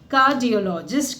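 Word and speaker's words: cardiologist: अब कार्डियोलॉजिस्ट भी नहीं, आर जो है बहुत थोड़ा सा है, यहाँ तक कि वो साइलेंट ही मान लो, तो क्या बोलेंगे आप? कार्डियोलॉजिस्ट कहेंगे।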